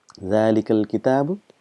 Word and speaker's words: ذلك: so if you know zalikal quite a lot in quran so again just reminding you that it's pronounced as zalika but this alif is omitted because of constant usage and it's written as